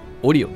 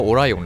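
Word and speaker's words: Orion: になってますオリオンって言んですけどね名前がねいいねなんか本当の発音はオライオンらしいですけどはいローマ読みだとオリオンですねだと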